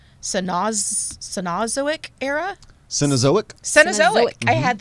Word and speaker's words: Cenozoic: And they lived 20 million years ago in the, I'm not sure I'm going to pronounce this correctly, Cenozoic era?